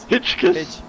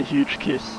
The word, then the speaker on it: Hitchkiss: Hitchkiss. Hitchkiss. I remember he said don't say huge kiss, so I'm just trying not to say that.